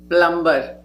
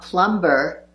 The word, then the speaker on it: plumber: Plumber. It's not plumber, but plumber. The B is silent.